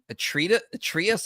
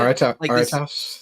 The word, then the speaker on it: Aretas: You also have, for example, like in 2 Corinthians, he's mentioning this king Atreus, I believe is how you pronounce it. Aretas the fourth.